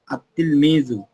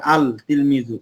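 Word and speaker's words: التلميذ: উচ্চারণ করা যাচ্ছে না লাম উচ্চারণ না করে সরাসরি লামের পরে যে হরফ আছে তাটাকে ধরতেছে আতলমিজু এখানে বলতে পারবে না যে আল তিলমিজু এরকম বলা যাবে না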